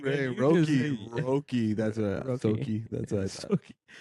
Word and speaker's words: Roki: Roki.